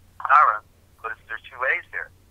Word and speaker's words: Aaron: That's why Aaron has two A's in his name, but you only pronounce one A, Aaron, but there's two A's there, telling a story.